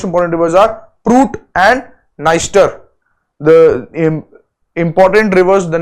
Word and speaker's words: Dniester: There is another river Dniester, which is the longest river of this country. Dniester, the D is silent here.